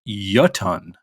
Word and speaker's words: Jotunn: I did look up how to pronounce uh joton as we were saying it apparently it's a icelantic word um and it's actually apparently pronounced yuton okay yeah and it apparently it's um attributed